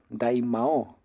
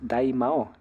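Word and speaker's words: 大魔王: vieron que acá bueno acá el doblaje le cambió un poco no sé por qué pero está Picoro daimo Picoro daimao acá le dicen pico daim q le pusieron el doblaje no sé por qué pero es daimao y y cuál es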